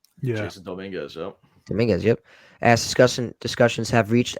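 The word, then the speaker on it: Domínguez: Dominguez, yep.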